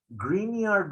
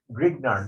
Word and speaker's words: Grignard: these guys are called grignard reagent okay i'm going to write it down in green color because it sounds like green okay g-r-i-g the second g is silent we didn't know that